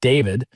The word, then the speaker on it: D4vd: a Tesla registered to singer David, spelled with a four, and his real name is David Anthony Burke.